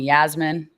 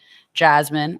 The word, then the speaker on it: Yasmin: long version so my my name is spelled with a y but it's pronounced with a j so everyone some people call me yasmin which is wrong but jasmine or yeah everyone